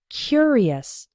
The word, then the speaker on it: curious: when we pronounce it the adjective form is curious the first syllable is strong he was a curious